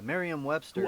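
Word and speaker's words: Merriam-Webster: the same day uh what how do you pronounce it miriam miriam yeah merriam webster i like i used to like but yeah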